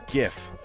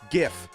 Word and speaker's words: GIF: This is one of the like few cases where the creator is wrong. It's GIF, not GIF. All right. It's GIF. Otherwise, it would have been spelled with a J.